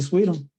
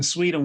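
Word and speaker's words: Suydam: the uh Marvel zombie stories yes Sir Arthur Sweden well known for a zombie the zombie covers as well in Sweden when you look for it it's spelled s-u-y-d-a-m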